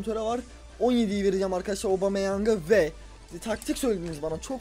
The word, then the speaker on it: Aubameyang: Evet, yeni transferimiz Aubameyang diye okunuyormuş.